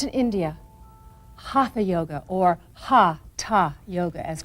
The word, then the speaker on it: hatha: you to hatha yoga class as you know hatha yoga is much more than an interesting collection of stretching and breathing techniques yoga was originally practiced in India hatha yoga or ha ha yoga as correctly pronounced these are Sanskrit words that literally mean